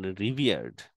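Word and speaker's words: revered: এখন রিভিয়ার্ড শব্দটা হচ্ছে আরেকটা, রিভিয়ার্ড। রিভিয়ার এর উচ্চারণটা মনে রাখার জন্য আপনার মনে রাখতে পারেন সিভিয়ার কে। সিভিয়ার এবং রিভিয়ারের উচ্চারণ সমান, একই রকম।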